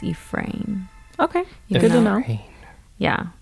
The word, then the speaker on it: Efren: so now I heard I was just looking up how to pronounce it and it looks like it's Ephraim okay good to know